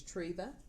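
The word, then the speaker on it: Treeva: back to the channel my name is Tria and it is pronounced tree t r e e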